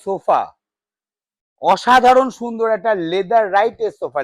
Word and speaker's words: Leatherette: sofa অসাধারণ সুন্দর একটা লেদার রাইটের সোফা লেদার রাইট উচ্চারণটা কিন্তু নট লেদার আমি বারবার বলি মার্কেটে যা শুনবেন লেদার লেদার লেদার করে যায় একটাও লেদার না পিওর